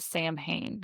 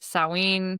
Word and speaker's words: Samhain: So it is not Sam Hayne, contrary to supernatural, the TV show.